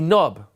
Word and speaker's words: knob: So in my funny association, I imagine a Nob, K-Nob, spelt with a K, right? But you don't hear the K, so you only pronounce the N and the B.